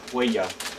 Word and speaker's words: huella: Huella. Huella. Huella. No L's? I spell huella with W-E-L-A. Don't know two L's? Huella.